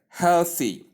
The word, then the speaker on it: healthy: But as an exception, the word healthy takes th instead of the.